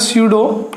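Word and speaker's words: pseudo: अगर हम इंग्लिश में बच्चों इसके नाम भाग की बात करें तो ये हो जाएगा स्यूडो, पी साइलेंट होता है बच्चों इसमें, यूनिमोलिकुलर रिएक्शंस, ऐसी रिएक्शंस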